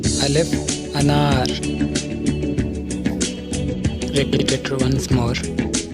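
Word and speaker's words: الف: And these 3 are Alif, Waw and Ye. So let's proceed to our first lesson. In this lesson, we are going to learn our first character, Alif. Alif sounds like English letter A.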